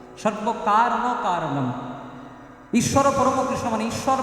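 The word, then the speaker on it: সর্বকারণকারণম্: এই উচ্চারণটা একটু ভুল হয়ে যায়। সর্বকারণ কারণ, সর্বকারণের কারণ নয়, সর্বকারণ কারণম।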